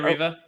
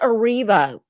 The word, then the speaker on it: Erivo: Cynthia Riva. Cynthia Erivo sprinted quicker than the gosh damn security.